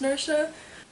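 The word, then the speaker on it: Naoise: I believe it's pronounced Nersha. Irish names confuse me.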